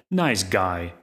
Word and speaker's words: NiceGUI: called nice GUI and I hear the creators pronounce it like nice guy on their website you